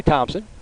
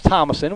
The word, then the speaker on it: Thomason: I heard one of the PA announcers say Thompson. Thought that's what it was. It's Thomason, which is how it's spelled, and it makes sense.